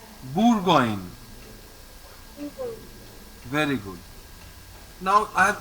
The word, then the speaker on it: Bourgogne: No, OU is pronounced as U. So it is Bourgogne. Bourgogne.